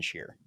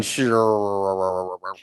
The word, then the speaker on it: Shear: name is Shear look look I got a bunch of extra syllables in that name that doesn't need to be used but it is Shear I mean I was gonna go sure look the story behind